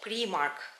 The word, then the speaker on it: Primark: olabiliyor tabii ki ama burada primark diye okunuyor haberiniz olsun primark diye Almanya'da